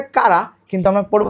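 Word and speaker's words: Chara: ওর উচ্চারণ আসলে কারা।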